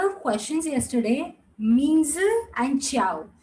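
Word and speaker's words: 叫: Now, those who are newcomers who don't know why J is pronounced as ch, there are specific letters in Mandarin language which are pronounced in specific way. So the J is pronounced as ch. There's an entire sheet for that.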